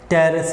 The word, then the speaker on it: Pteris: एक से for example यहाँ पे मैं ऐसे लिख रहा हूँ, यानी फर्न्स के एग्जांपल है ना, ये P साइलेंट होगा इसमें, ठीक है ना, PTERIS, टेरेस इसको हम पढ़ते हैं, P साइलेंट है।